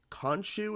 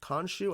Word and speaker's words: Khonshu: I believe it's Khonshu is how you pronounce Khonshu.